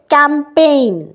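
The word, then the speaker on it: campaign: নেক্সটটাই হচ্ছে ক্যাম্পেইন, এখানে জিটা সাইলেন্ট, কারণ PAI এর পর এনে চলে যাচ্ছে না সাউন্ড।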